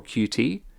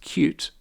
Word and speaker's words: Qt: instance TK inter or QT yes I know it's pronounced cute it's my right to